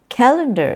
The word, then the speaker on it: calendar: Calendar is a very common example too. It's calendar. Some people say calendar, where the stress happens on the second syllable. Calendar, not calendar.